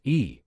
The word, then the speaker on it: Ye: his chin slightly so your last name on the man's business card it was spelled ye which could be pronounced as e but when the man introduced himself self he had pronounced it you Lance had noticed the